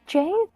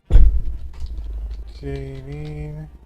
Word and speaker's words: Janine: My name is Jane. Is that how you say her name? Hold on. Is that how you say her name? Is that seriously her name? Hold on. I'm trying to... Janine...